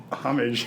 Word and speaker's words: homage: on you guys sell is the H is silent homage yeah no you have